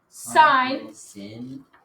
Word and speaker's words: sine: so first of all this is sign not sin one of my pet peeves and people say sin sign s-i-n-e it's just abbreviated should